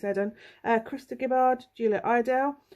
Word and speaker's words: Eden: cook or eden cook some people don't pronounce it eden it's edin uh krista gibbard julia